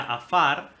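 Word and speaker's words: עפר: Fíjate, hermano, en el hebreo, la palabra polvo en la 6083, que se pronuncia afar, dice que es polvo como desmenuzado, es decir, como cortado en pedazos o gris.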